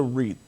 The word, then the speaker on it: REIT: And really, when you look back at the REIT, we call it REIT. It's actually a good word to rap with there, Prince, because REIT, beat, sweet, number of words that rhyme with that.